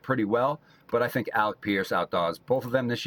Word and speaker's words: Alec Pierce: Did I say his name I I feel like I said his name wrong a second ago. It's Alec Pierce, but man, Alec Pierce is legit.